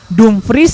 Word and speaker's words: Dumfries: Jadi yang benar Betul, Dumfries ya. Dumfries. Itu udah Ini- pronounce Belandanya.